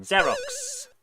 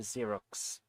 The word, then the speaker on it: Xerox: Still don't get why X sounds like zed when used for Xerox. Um, because it's Greek. I think they have a different pronunciation style.